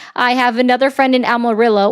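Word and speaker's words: Amarillo: I have another friend in Amorillo or Amario. It's how it's supposed to be pronounced.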